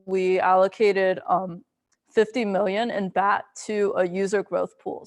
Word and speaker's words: BAT: A key part of that is BAT, which stands for Basic Attention Token. And we just pronounce it bat, like the animal with wings.